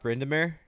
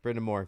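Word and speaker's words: Brind'Amour: quote as it Rob bryndemere is that how you say his name no more Brenda Moore thank you uh he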